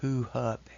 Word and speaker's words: HuHub: start to this video hu hub is pronounced who hub this who hub humanitarian